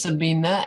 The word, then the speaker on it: Sabina: it both ways it's sabina and i pronounce it with an a sabina because english doesn't work with a german name okay thank you sabina